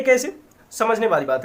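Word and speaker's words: cache: कैसे मेमोरी या कैचे memory भी कुछ लोग बोलते हैं, पर कैसे जो है वो ज्यादा शुद्ध है अकॉर्डिंग टू प्रोनाउंसिएशन। तो ये कैसे मेमोरी है क्या?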